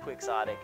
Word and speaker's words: quixotic: also words like the word quixotic which is pronounced quixotic and not the Sadiq is a adjective that